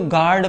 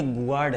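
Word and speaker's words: guard: हम इसको गार्ड पढ़ेंगे। गुड नहीं पढ़ सकते।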